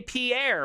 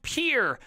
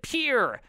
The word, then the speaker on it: Pierre: Oh, you would say Pierre. Well, guess what, you dumbass? That's not how you say it at all. It's pronounced peer, like P-U-R-E. Everybody around here calls it peer.